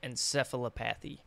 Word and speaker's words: encephalopathy: Chronic traumatic encephalopathy. He's probably depressed because he can't fucking pronounce it.